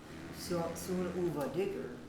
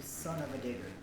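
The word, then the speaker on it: Son-uva Digger: uh steel Titans and when I was saying son you know soona digger I didn't know that it was actually son of a digger I was pronouncing that wrong so badly until I actually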